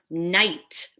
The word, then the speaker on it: knight: We don't pronounce that initial K, just like in the word knight, a knight in shining armor. We don't pronounce that initial K.